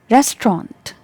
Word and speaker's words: restaurant: restaurant restaurant got it restaurant so here the stress is given on the first syllable and this is trend chant so res trent restaurant restaurant restaurant i hope